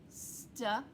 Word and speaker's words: style: When you see that, you might wonder, do I say ya? No, you say the long I sound, I, and this is silent. Here's an example. Style, style.